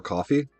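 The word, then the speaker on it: Ko-fi: I Kofi is Kofi's school. I uh or coffee. I I I call it Kofi. I default to calling it Kofi, but I think everybody pronounces it coffee regardless.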